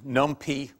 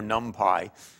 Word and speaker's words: NumPy: lab uh either ounc numy or numpy uh you can choose your pronunciation as you prefer uh this basically gives